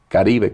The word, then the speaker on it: Caribe: Karibbe coffee company sounds more phonetic and keeps a little bit of my roots in the name.